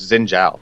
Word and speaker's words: Xin Zhao: Is that how you say his name, Xin Zhao? Xin Zhao? It's actually, if I remember correctly from my history, the ZH is pronounced as a J, so it's Xin Zhao.